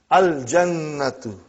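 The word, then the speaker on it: الْجَنَّةُ: Brother, you will pronounce lam. Al-jannatu.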